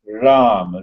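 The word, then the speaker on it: राम: There are two syllables in the Ram, Ra, Ma. So the last syllable of Ma is spoken loudly with the lips together, and the Ra, the tongue remains in between the two, upper and the lower jaws, and the lips gets opened.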